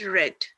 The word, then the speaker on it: read: spell it read read read then read look pronounced red they already told you here send sent lend